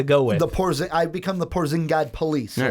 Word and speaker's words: Porzingis: Like Porzingis.